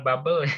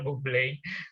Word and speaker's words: Bublé: Michael Bublé, bacanya bukan Michael Bubble ya, Michael Bublé concert ya. Ini dari bahasa dari Prancis ya sebenarnya.